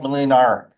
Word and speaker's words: Molinar: Like a motorcycle. Molinar, it's a Serbian name.